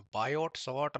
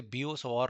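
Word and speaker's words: Biot–Savart: बियो सवार लॉ है बायोट सट लॉ नहीं बोलते इसे इसे ब सवार लॉ बोलते हैं क्योंकि यह फ्रेंच लोग है वहां पर टी साइलेंट रहेगा तो यह टी नहीं बोला जाता चलो भाई वापस आते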